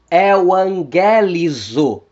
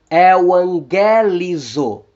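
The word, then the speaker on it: εὐαγγελίζω: O gama antes das guturais capa, gama e ri vão soar como N.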